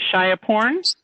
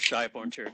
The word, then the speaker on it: Shai Borntir: Shia Porn? are you there with us? I've muted you. It's okay. My name is Shai Borntir. It's a Thai name. They're not pronounced the way they're spelled.